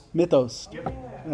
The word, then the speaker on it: Mythos: I don't want to mispronounce. Mythos.